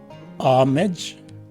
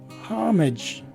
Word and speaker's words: homage: Now, you see that both variations are similar in pronunciation, except for the letter H, which is present in the second variation and not in the first. So this word is pronounced as either homage or homage.